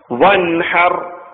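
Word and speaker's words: وانحر: ഹർ എന്നല്ല പറയേണ്ടത് വെളിവാക്കി വൻ ഹർ പിന്നെ വൻ ഹർ എന്ന് പറയരുത് വൻ ഹ ഹൽഖിന്റെ അക്ഷരമായ ഹ ആണ് റഹ്മാനിൽ ഒക്കെ പഠിച്ച ഹ ആണ് ഇവിടെയുള്ളത് വൻഹർ റബ്ബിൻ അപ്പൊ ഈ ആയത്തിൽ നമ്മൾ ശ്രദ്ധിക്കുന്നത്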